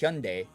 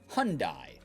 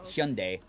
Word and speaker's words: Hyundai: It's technically pronounced Hyundai because it's a Korean word. So when you actually write it in America, we turned it into Hyundai, which is wrong.